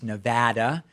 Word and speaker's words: Nevada: I'm doing the best I can here to pronounce things I've been corrected that it's not Nevada it's Nevada it's not why it's Oregon or oh that